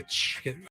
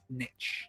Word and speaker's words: niche: I always say nitch. Can't you Some people say nitch. Yeah, I think you can say both. I think I think either is okay. I think you can say both if I'm not mistaken. Niche. I I I think I thought I always say niche.